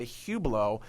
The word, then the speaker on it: Hublot: even pronounce it and it is pronounced a Hublot and I bought it